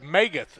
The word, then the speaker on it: Magath: it 57 to 12 it's pronounced meath m a g- a t h megga Jared meath MC g a t